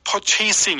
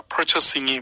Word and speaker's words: purchasing: 이걸 purchasing 이렇게 하지 마세요. 이 발음은 제가 발음이 좋진 않지만 정확합니다. purchasing이 맞아요.